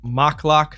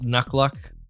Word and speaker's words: Mocklock: I believe it was Mocklock, not Nuckluck, that Tyler met or Praetor left.